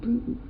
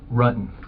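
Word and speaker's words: Ruetten: John Bruton. Whoa. John Rutten? Rutten. The investigators already knew how to say John Rutten's name correctly. The mispronunciation was a simple strategy to see how the suspect would react.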